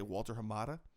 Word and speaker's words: Walter Hamada: name of the exact, I want to say Walter Hamada. Yeah, it was Hamada. He apparently had, you pronounced that pretty well, actually.